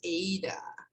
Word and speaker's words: Ada: subscribe sorry actually her name is pronounced aydah ada lovelace so you